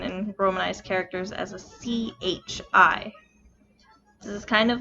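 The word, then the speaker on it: ち: romanized characters as a c-h-i this is kind of like she in that it changes that sound a little bit to accommodate the e sound it is never pronounced t it is always chi in order to write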